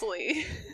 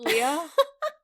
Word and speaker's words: Lea: It would be Leah if there was an H, obviously.